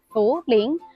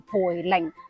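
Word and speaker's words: 涪陵: 其實無論係普通話定係粵語嘅古今音，只有一個讀音就係讀浮，唔係讀培。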